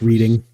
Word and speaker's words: Reading: looking for this what is reading um it's pronounced reading how are you going to play it for